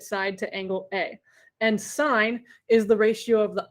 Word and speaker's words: sine: spell out the word sine it would be s-i-n-e but usually we just see it abbreviated like this but it's pronounced like this it's not sin it's sine all right so then